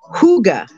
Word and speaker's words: Hygge: Hygge. Hygge Homestead. Thank you for clearing that up for me. I don't like to mispronounce.